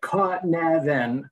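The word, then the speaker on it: Cynefin: So think of it, Kinefin, like Kevin, but like you're sneezing and saying Kevin.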